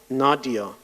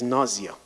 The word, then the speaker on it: Nazia: For instance, Nazia Karim, she's not Nadia, she's Nazia.